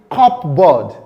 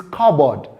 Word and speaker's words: cupboard: Many of us call this cupboard. No, it is cupboard. The P sound is silent.